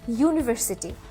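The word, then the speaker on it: university: ইউনিভার্সিটি। তাই না? তাহলে এখানে আ ইউনিভার্সিটি। এখানে কেন এ বসলো বা আ বসলো? কারণ ইউনিভার্সিটির শুরুতে ইউ থাকা সত্ত্বেও একটা ভাওয়েল থাকা সত্ত্বেও এটার উচ্চারণ হয়েছে ইউ এর মত।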